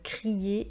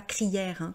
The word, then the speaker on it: crier: Être anxieux, être anxieuse, et vous avez ici le verbe crier, et donc IER fait le son IE et non pas crière, comme disent certaines personnes qui apprennent le français.